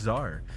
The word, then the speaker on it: tsar: tsar and they're like what'd you say to Zar no dude it's just Czar I'm like what do you mean why is there a t there Mount Karu where the